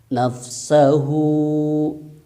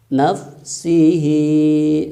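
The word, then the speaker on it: نَفْسَهُ: ketika washol kan dibacanya nafsahu Apa itu wassalwa soal itu ketika dilanjut ya dilanjut bacaannya itu asal nah waqaf artinya berhenti nugs Sehun nafsah Hai nafsihi Nafsi jadi jangan sampai dibaca nafsihi nafsih itu salah Jadi kalau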